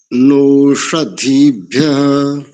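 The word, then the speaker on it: ओषधीभ्यः: नोष, मूर्धन्य शकार है ना, नोषधि, नोषधि। पकड़ में आया? नोषधीभ्यः।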